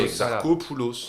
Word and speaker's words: Exarchopoulos: Alors, comment se prononce Exarchopoulos? Ah, mais il me donne La phonétique. la phonétique, mais. Ah, c'est un K. Parfait. Voilà. Exarchopoulos.